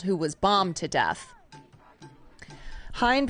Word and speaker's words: Hind: They unfurled a banner reading Hind's Hall, renaming Hamilton after Hind Rajab, a Palestinian boy.